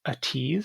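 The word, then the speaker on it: ATEEZ: uh the song is a tease and that's how you pronounce that a-t-e-z i don't know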